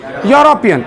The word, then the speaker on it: European: इसको EUROPEAN, देखिए spelling EUROPEN। इसको यूरोपियन पढ़ते हैं कि यूरोपियन पढ़ते हैं? यूरोपियन।